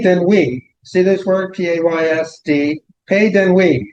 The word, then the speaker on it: Pays d'Ennui: Pays d'Ennui is how you say that, according to her.